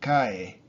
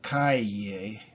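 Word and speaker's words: cae: For example, Kai, that's fall. Someone fall. You know, he's falling. He falls. Kai, el Kai. So it's not Kaye. Kaye with a double in the middle. That's a street.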